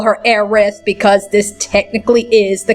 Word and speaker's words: Aerith: In the original, as you saw, when it was first came out, her name was Eris. But that's not right. Her real name is Aerith.